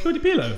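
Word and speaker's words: Claudie Pierlot: Oh, I can't pronounce it. It's Claudie Pierlet. pillow. Cody pillow.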